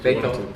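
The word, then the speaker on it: Beitou: I just went to Beito. How do you say it? Okay, Beito.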